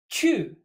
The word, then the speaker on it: 趣: 去. Pronounced exactly like to go, this character means interest.